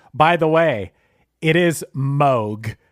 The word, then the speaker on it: Moog: Oh, real quick, Chris, by the way, it is Moog. It's not Moog. It's Moog. I went on their website and they said it's Moog that rhymes with Vogue.